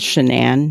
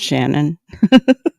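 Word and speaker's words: Shanann: says her name though her name was shannan not Shannon so it irritates me that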